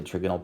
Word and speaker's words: trigonal: trigonal planar is a trigonal pyramidal is it uh t-shaped uh note on pronunciation Mr Murray says this word trigonal Mrs Lee for those of you who had her says trigonal potato potato so this idea that we